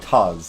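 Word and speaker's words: tawse: It was like, toss. It's like one syllable, maybe? Tos. Taz. Yeah, like Taz. There you go.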